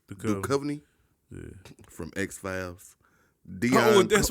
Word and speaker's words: Duchovny: Duchovny. Duchovny?